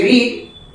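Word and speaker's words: read: और ध्यान देना है जैसे रीड य सेम है स्पेलिंग देख लीजिए तो v1 में रीड पढ़ेंगे अब v2 में रेड पढ़ेंगे v3 में भी रेड पढ़ेंगे रीड रेड रेड यहां बीट का टू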